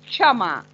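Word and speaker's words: क्षमा: When you speak this cha, there is in your mouth, your throat, a little a half ka. Chama, chama.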